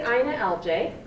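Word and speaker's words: INALJ: I say Ina LJ, as you've heard, because it's the easiest way to pronounce my website, but it stands for I Need a Library Job.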